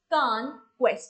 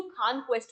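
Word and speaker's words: Khan Quest: ठीक है, कुछ कुछ तो खान क्वेस्ट भी बोलते हैं। सो विच एवर आपको जो आपको प्रोनाउंस करना है आप उसके हिसाब से प्रोनाउंस को कर सकते हो।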